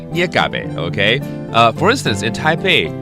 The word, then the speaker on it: 月鴿仔: 捏嘎贝。捏嘎贝 OK?